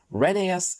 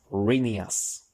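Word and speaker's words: Rheneas: back to the pronunciations reneas is actually meant to be pronounced as Reas then we'd be on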